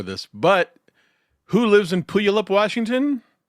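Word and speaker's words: Puyallup: A few days later, he took his sons to Puup, Washington, to stay with his father, Steven.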